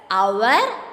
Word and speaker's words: hour: H is silent in this word. We will pronounce these words as hour and honest. That it starts with the sound of O.